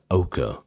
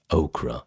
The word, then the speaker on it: ochre: iron oxide into pigment, which in the last video I kept pronouncing as okra, and everybody told me off for it, so here I am correcting myself.